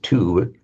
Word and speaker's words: two: And it's the same word that comes into English as two, still written with the w there, but the way isn't pronounced, of course.